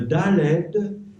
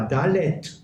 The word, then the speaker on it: Dalet: Quand tu prononces la lettre, Oui. tu dis pas Dalet. Si. Non. Ah si, tu dis Dalet. Eh ben, tu peux dire Dalet aussi.